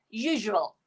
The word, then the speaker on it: usual: It should be usual. Usual, not usual. Some of you will use the z sound. It's not z sound. It's j.